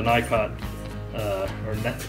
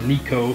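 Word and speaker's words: Nicot: and they are the night cot these these sell cups and the basis and whatnot there they're from the Nikon our Nico depending on how you pronounce it system and I like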